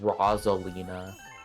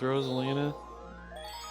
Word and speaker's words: Rosalina: here's the ultimate question because I've heard people pronounce it Rosalina I think it's just wrong I personally think that is definitely wrong but I think it's Rosalina then again I pronounce